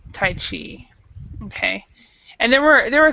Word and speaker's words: Tai Chi: But this is actually how we pronounce it is in English we say Tai Chi. So Tai Chi.